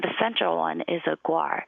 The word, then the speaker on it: guar: And the central one is a guar. It's a very, very large cow-like animal, but it's much, much bigger. And guar, I think, is the correct pronunciation.